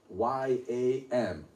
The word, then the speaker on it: yam: When I put Y-A-M, yam, what is a syllable?